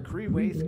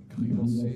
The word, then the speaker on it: crevasse: Danach Creeways. Creeways ist Englisch und heißt Gletscherspalte. Ich hoffe, YouTube schneidet das nicht. Crevasse.